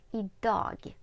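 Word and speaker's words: idag: сьогодні так Звертаю увагу ми не вимовляємо літеру Ґ в слові і догі так форідо так ferido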